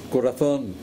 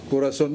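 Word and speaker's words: corazón: You pronounce corazon. Yang Pilipino nga seminarista, corazon. No! That's not corazon. Corazon. Padre, mo magikong lisod-lisuron. Oh, that's correct now.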